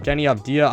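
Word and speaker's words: Deni Avdija: to talk about is denny uh diaz however you say his name jenny abdia i'm pretty sure and that's how you say it but anyways anyways danny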